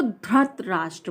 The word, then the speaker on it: धृतराष्ट्र: अब देखिए बहुत लोग इसको धृत राष्ट्र बोलते हैं, धृत, लेकिन इसका जो प्रोनाउंसिएशन है, अब बताइए धा में कौन सी